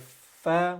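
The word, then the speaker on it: ف: So you have fa, which is the F sound in English.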